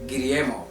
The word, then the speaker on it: Guillermo: Guillermo. Guillermo. Yeah, yeah. For people who don't roll their tongue.